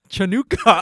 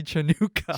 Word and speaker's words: Chanukah: spell it different ways, and like the C is silent. It's just if you just say happy Chanukah.